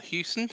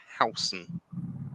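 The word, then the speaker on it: Huijsen: for the club and here he is Dean hon or Houston um as some people have been saying it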